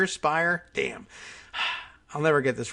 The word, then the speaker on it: Speier: adjudicating the charges representative Jackies we've forgotten the pronunciation Speier Speier damn I'll never get this right now and